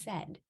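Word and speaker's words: saighead: aspects of our being the Irish word for Arrow is pronounced said and the arrow is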